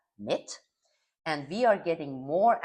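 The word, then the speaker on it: MİT: In Turkey, it is pronounced as MIT.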